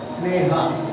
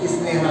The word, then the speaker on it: स्नेहा: और हाँ बेटा, स्नेहा, स्नेहा नहीं है, ई का उच्चारण ही नहीं होना।